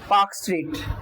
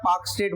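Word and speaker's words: Palk Strait: ठीक है, देन यहाँ पे आपको एक स्टेट दिख रहा होगा, पाक स्टेट, एल साइलेंट रहेगा, पाक स्टेट बोलेंगे।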